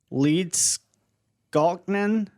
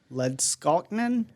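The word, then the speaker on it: Leedskalnin: guy named uh edward leeds gaultman wow i know i pronounced that wrong i think he might as well have just had me read it it's l-e-e-d-s-k-a-l-n-i-n led skalkman sounds good to me he lived from uh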